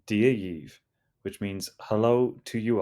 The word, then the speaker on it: Dia dhaoibh: If you're speaking to a group of people, you can say dee-ah yeev, which means hello to you all.